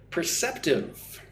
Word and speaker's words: perceptive: So, 18, perceptive. Three syllables, per-cep-tive. Perceptive. Put the stress on the second syllable, cep.